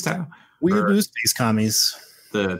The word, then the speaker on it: Tau: It was Tau. It was Tau. It's Tau.